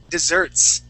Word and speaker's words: dessert: That word is dessert, okay, with the accent at the end.